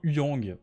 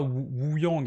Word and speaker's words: Huyang: Il se prononce bien Huyang. Et oui. Oui, il se prononce pas Wu-Yang. Hein. Wu-Yang, ça fait bizarre, c'est Huyang. Avec un H soufflé.